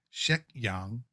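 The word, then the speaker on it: 石香: Well, on the left, let's put it that way, is her actual name, which in Cantonese would be pronounced Shek Yang.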